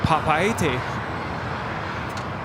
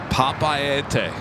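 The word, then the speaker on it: Papeete: And it's Papaete. Papaete.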